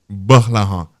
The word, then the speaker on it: Gbolahan: Because the G and B is one alphabet together. They're not separate. It's GB and it's pronounced as B. Gbolahan.